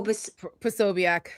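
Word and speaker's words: Posobiec: Po Pobiac. Pobiac.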